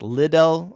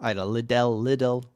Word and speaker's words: Liddell: I think I mispronounced that. It's Liddell. Liddell.